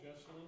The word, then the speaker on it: Jesselyn: Originally from Lowell, Jesselyn, am I pronouncing her name correctly?